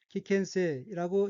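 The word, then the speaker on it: 危険性: 첫째 줄 오른편 첫 번째 어휘는 한자가 한국어로 위험성이고 각기 위태할 위, 험할 험, 성품 성자로 되어 있고 일본어로는 키켄세라고 읽으며 키켄세는 위험성이란 뜻입니다.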